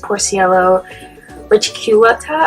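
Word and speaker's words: Poecilia reticulata: So I go over the scientific names, which is Porciello reticulata, I think is how you pronounce that for guppies, and then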